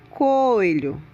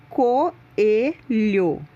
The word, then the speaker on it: coelho: Não se pronuncia coelho, se pronuncia coelho.